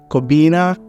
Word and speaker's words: Kobina: I mean I think it's an accent issue because which follows our Ghanaian accent but they cannot do that so to make it easy for them and not not make them feel like they're pronouncing my name wrong I try to at least say to their accent like maybe kobina and they can pronounce it right away and you're so